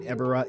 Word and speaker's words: Ebirah: Series figure here and ebera is awesome that's how I'm gonna pronounce it I am probably gonna hurt your ears but quite frankly it seems like everybody likes to pronounce this kaiju's name differently and uh you know based on Japanese pronunciation I guess we're all going to say it differently anyway ibra here is